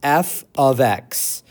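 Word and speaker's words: f(x): This is pronounced f of x.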